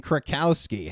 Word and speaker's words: Krakowski: Before Jane Krakowski, hey, I pronounced it correctly, who was cast as Jenna in 30 Rock?